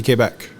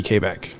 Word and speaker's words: Quebec: Of course, and in English it's Quebec, but the way we would pronounce it in French in Canada would be Quebec.